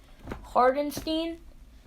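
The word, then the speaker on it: Hartenstein: traded for isaiah hartstein i'm pretty sure that is how you pronounce it hardenstein and two future second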